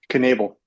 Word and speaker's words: Knabel: Knable. Knabel. Like evil Knable, Knabel.